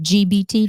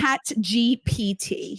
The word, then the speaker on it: ChatGPT: Is it GBT? Did I say it right? Chat GPT. Yes. Chat G. Oh, PT, goodness.